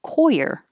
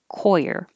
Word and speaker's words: coir: the coconut are called coir it's spelled like this and it could be pronounced with one syllable but the dictionary had the two syllables as the first one